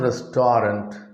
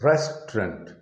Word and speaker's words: restaurant: note camera restaurant restaurant tolerant it is not restorant it is restaurant restaurant another common word is average average